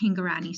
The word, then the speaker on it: Hingorani: Yes, it's Sonali, and the last name is pronounced Hingorani, so you are saying it correctly.